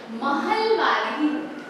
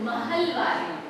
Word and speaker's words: महलवाड़ी: English में इट इज ए, ठीक है, महलवाड़ी. ओके, नॉट इंग्लिश में हम वैसे लिखते हैं स्पेलिंग, लेकिन इट इज महलवाड़ी, ठीक है.